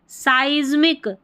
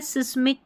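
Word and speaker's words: seismic: यहाँ पर है साइज्मिक, साइज्मिक, इसको देखिए साइज्मिक उच्चारण दे रखा है, सिस्मिक करके नहीं, साइज्मिक, साइज्मिक पढ़ा, आई उच्चारण है।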